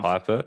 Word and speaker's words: Pfeffer: Where his name is, it's spelled Pfeffer. Oh, I have. Piper. Yeah, and they say Dr. Pepper.